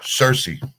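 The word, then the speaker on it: Cirice: Cerise, how do you pronounce it? Cersei.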